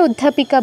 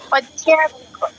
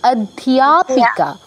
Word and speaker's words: অধ্যাপিকা: একটু সংশোধন করে দিই উচ্চারণটা, অধ্যা নয়, বাংলায় অধ্যাপিকা বলবো, কিন্তু এখানে দেখুন ধয়ের সাথে ইও ফলা যুক্ত হয়েছে, ঠিক আছে? হ্যাঁ হ্যাঁ। তাহলে উচ্চারণটা কি হবে? ধিও। ধিও। অধ্যাপিকা। আচ্ছা একটু শুনে নিন। অধ্যাপিকা।